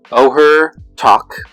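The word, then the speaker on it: Ojer Taq: black red green so this one is pronounced Oher talk deepest foundation for white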